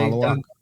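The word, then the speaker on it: Maluach: impression or Jeremiah Fears uh Malish am I pronouncing that correctly? Malawash Malawash.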